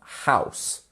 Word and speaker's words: house: The E turns it turns the OU into an ow, ow. So OU is quite often pronounced as ow.